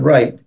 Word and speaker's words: write: and then we have the word w r t which is exactly the same pronunciation right which means you know